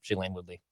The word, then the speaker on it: Shailene Woodley: Like Judd saying, remember last week, Judd said Aaron Rodgers' new celebrity girlfriend or fiance, is it pronounced Shailene Woodley? Yep, Shailene Woodley.